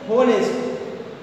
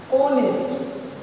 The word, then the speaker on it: honest: Sometimes it happens the students will pronounce it honest. Honest means like this, honest. It's wrong. You are listening right? It's wrong. Exactly, it is pronounced honest.